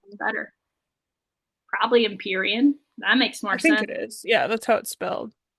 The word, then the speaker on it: Empyrean: Council is our first mention of the word Empreen, which is the name of the whole series, is the Empreen series. Is that pronounced? I thought it was Empyrean. Oh, great. That sounds better. Probably Empyrean.